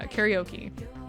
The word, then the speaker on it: karaoke: midnight to do uh karaoke which is not the correct pronunciation of that but I'm gonna go with it because it is the common pronunciation you're saying for hours